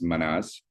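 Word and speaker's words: Mannaz: And for the letter M, uh, the protogerermanic pronunciation is manaz.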